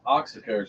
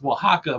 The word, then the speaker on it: Oaxaca: it was uh uh Oaxaca and you said oh waxica or something like that our oxycard yeah it's Oaxaca but you oh and even